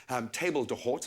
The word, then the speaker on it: table d'hôte: So the direct translation, it's a French term. It means the host table, and it's actually one